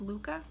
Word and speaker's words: Lykke: went with the brand i think it's pronounced luca and i have several reviews of luca products coming soon so it's spelled l-y-k-e um so i have